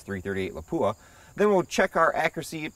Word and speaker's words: Lapua: my last test with the 338 against armor lapua is the correct pronunciation anyways i've got some 300 grain boat